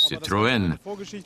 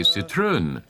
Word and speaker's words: Citroën: The correct pronunciation, since it's a French brand, is Citroën. But there's a story behind this. In Germany, a lot of people say Citroën, which actually isn't wrong.